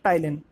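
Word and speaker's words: ptyalin: contain enzyme सवरी अलेस इसको टाइलिन भी बोलते हैं प साइलेंट रहेगा टाइलिन क्या बताया था इसका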